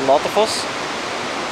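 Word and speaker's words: Låtefoss: next waterfall, which is the Latefoss, or Latefoss, as I should pronounce it.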